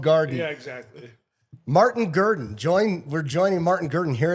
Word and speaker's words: Gerdin: I thought it might be Gerdine or something like Yeah, real no, fancy. Just garden, but spelled bad. Garden. Poorly spelled garden. Yeah, exactly. Martin Gerdin.